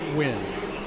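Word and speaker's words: Nguyen: Runner yeah Isaiah win now the win is spelled like that win n-g-u-y-e-n win the old linebacker from Texas A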